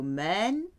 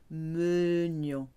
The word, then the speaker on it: mène: So here there is a slight difference in pronunciation. You go mène to menions. These ER verbs are where the E has an acute accent and then changes to a grave accent before the mute E.